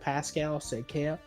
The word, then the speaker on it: Pascal Siakam: Pascal Siakam.